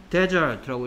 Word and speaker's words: desert: 근데 S 하나 없는 얘는 어떻게 읽을 때는 무슨 뜻이고 Desert라고 읽을 때는 사막이고요. 그 다음에 밑에 있는 거랑 발음이 똑같아서 Dessert라고 읽으면 버리다가 된다 했죠.